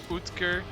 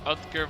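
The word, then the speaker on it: Oetker: pizza that I mean for the Dutch people Dr utker or outker whatever you want to pronounce as I say utker America big American pizzas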